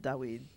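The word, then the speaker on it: דוד: So it probably was at one time pronounced Dawid.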